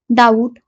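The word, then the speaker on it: doubt: bulk म्हणजे मोठ्या प्रमाणात डाऊट डी ओ यू बीटी डाऊट म्हणजे शंका डाऊट या शब्दाची स्पेलिंग आणि उच्चार थोडासा वेगळा आहे त्यामुळे हा शब्द थोडासा लक्षात ठेवा कॉस्ट सी ओ एसटी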